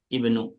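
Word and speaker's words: ابن: Kalau letaknya di awal kalimat selalu pakai kasrah. Jangan dibaca u, jangan pula dibaca a. Tapi Ibnu.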